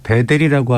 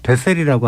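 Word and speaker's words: Bethell: 이 베델이라고 하는데 보통 베셀이라고 하는 그런 발음이 옳을 것 같은데 예.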